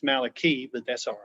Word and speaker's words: Malachi: a covenant in the book of malachi actually pronounced malaki but that's all right and which means my